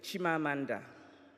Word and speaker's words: Chimamanda: very good to be back my name is shima Amanda in Ybor it means my personal spirit will